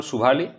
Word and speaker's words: সুভালি: হয়েছিল ইংরেজদের সঙ্গে পর্তুগিজদের এই জায়গাটা একচুয়াল নাম সুভালি তো আমি আগেই বলেছি ইংরেজরা আমাদের ভারতীয়দের যে যে সমস্ত জায়গার নাম সেগুলো ঠিকঠাক উচ্চারণ করতে পারতো না এজন্য সুভালিকে ওরা সোয়ালি বলে উচ্চারণ করতো ব্রিটিশরা কিন্তু এই 1612